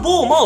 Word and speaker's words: BOMA: 、望む馬と書いてボーマなんですね。